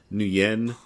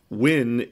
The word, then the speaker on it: Nguyen: the surname win and it's pronounced differently in the north versus the South because they have different dialects but you have no N or new yen I think I saw but win is the accepted English variation of the name and that's how all my friends pronounced it so I'm gonna stick